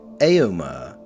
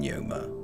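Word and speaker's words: Éomer: In the films it's pronounced Aomer rather than Yoma.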